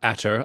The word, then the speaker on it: ATER: But yes, so we're here to talk about ATER. I hope I'm pronouncing that the way I'm supposed to pronounce it.